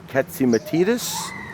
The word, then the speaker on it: Catsimatidis: Let me try to see if I can pronounce this one right. John Catsimatidis.